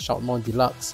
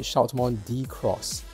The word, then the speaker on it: Shoutmon DX: to the meaning of deluxe right so it's Shoutmon Deluxe but you know we call it Shoutmon Shoutmon